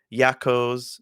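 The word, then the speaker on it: Jakos: uh and the words yakos spelled with a J yakos Fortress underneath and you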